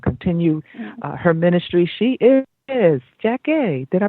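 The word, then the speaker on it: Jackée: She is JACKEE. Did I pronounce that correctly?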